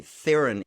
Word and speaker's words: Theron: by charlize theron but it's the real pronunciation pronunciation of my last name is throne which is really hard for people to say okay where is her neighbor out is french south africa south african apparently theron is the preferred mispronunciation of her name so